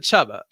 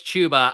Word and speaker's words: Chuba: is it chuba or is it chubba it's chuba i i was corrected early on in the uh this off season because i always said chubba but it's chuba really i guess because it is spelled like tuba so i guess it